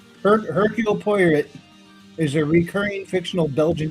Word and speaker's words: Poirot: But All right, so now that I actually know how to pronounce it, Poirot is Christie's most famous and longest-running character appearing in 33 novels starting with The Mysterious Affair at Styles.